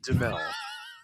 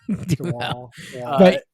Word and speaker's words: Duhamel: Duhamel. Duhamel.